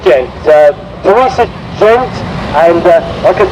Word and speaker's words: Gent: Gent, it's pronounced Gent.